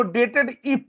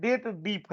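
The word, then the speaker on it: DATEDIF: खाली डीप होता है ऐसे कुछ लोग इसको डेटेड इफ पढ़ते हैं गलत है ये क्या है डेट डीप है दो डेटों के बीच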